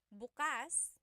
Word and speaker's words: bukas: If you say buas the emphasis is on the second syllable that means open. If you say buas emphasis is on the first syllable that means tomorrow.